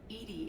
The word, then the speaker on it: EDI: are you named Ed Ed is the phonetic pronunciation of e that is an acronym